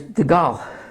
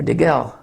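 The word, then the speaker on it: דגל: So there's off, there's nes, and there's degal, or degel. That's an E. I'm running out of space here. I don't know if you can see that. D-E-G-E-L.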